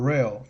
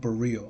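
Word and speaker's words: Borel: bar b bar b bar burel not buro okay okay sorry I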